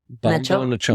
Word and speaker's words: Bombonachoona: that would be Bombo, like B-O-M-B-O, Okay. Bombo. Bombo. And then Nachona, like Nacho, Nacho? Yeah. Like that? Bombonachoona.